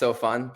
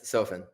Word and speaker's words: Sofen: Sometimes mispronounced Sofen, but yes, Sofen.